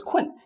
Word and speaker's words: 困: "I'm sleepy" For this "kun" you may find the pronunciation not easy so we can rewrite it into "k w e n" so this is one